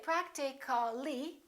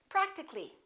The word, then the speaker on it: practically: words like that practical practical we don't say practically we drop the egg and we say practically physical how would we say that physically not